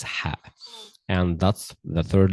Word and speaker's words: ح: Number two is ha. Ha. Okay. Ha. It's not like the English the English letter H. No, it's Ha.